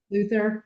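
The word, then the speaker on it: Luthor: Is that how you say his name? Lex Luthther. Yeah, Luther.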